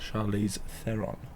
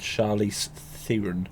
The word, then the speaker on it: Charlize Theron: what charlie theon's doing it like i know charlize theron not charlize theron or whatever you said john why can't you